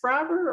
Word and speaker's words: Braver: And is it pronounced Braver or Braver, Gary? Braver.